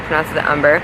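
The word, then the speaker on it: Amber Khan: She spells her name like Amber, but she's pronounced it Umber.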